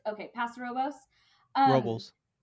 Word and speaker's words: Robles: You're in Atascadero, Atascadero, Pass Robles, Los Paso Robos. Okay, Paso Robos. Um, Robles, Robles, yeah, like roll bowls, bowls. roll bowls.